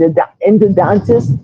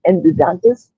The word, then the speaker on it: endodontist: to by the end indidontist. I cannot pronounce that word properly. Endodontist.